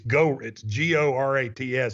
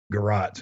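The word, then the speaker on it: Gorat's: Warren yeah, Buffett, big Garot's guy. He likes their desserts. That's a big place for him. It's Gorats. It looks like Go Rats, but it's pronounced Garot's, and it's really good.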